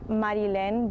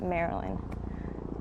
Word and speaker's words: Marilyn: your name maryland so so it's in spanish it's marilyn but here everyone just reads it maryland are you okay with